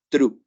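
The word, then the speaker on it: through: escribe trough se pronuncia true la t no es una t tan marcada es como en el número tres no decimos Tri decimos yo atravieso la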